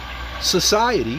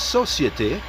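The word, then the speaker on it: Société: Next we have Society, that's Societe, which is spelled S-O-C-I-E-T-E, Generale, or General, which is spelled G-E-N-E-R-A-L-E.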